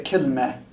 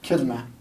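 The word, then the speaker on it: كلمة: It's pronounced different ways in different dialects, but here in Jordan we say kilme. It sort of makes an sound. Kilme, kilme.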